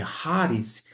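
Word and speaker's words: χάρις: até mesmo esse elemento de caris que Alguns falam que mas que na verdade na pronúncia e erasmiana é haris um dom no singular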